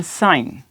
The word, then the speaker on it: sign: जैसे हम कहते हैं साइन, SIGN। अब देखें जी यहाँ पे साइलेंट है, तो साइन, साइन इस तरीके से।